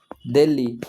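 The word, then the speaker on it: Delhi: हे जातो उच्चार जातो त्यामुळे एच हा सायलेंट येतो तिथ आपल्यासाठी तो सायलेंट आहे ठीक आहे दिल्ली दिल्ली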